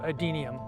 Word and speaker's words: adenium: nine name so just just remember adenium it's only three syllables easy to learn when